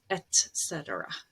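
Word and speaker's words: et cetera: americans that say etc as if the c is before the t but it's not it's etcetera that's the correct pronunciation at all is something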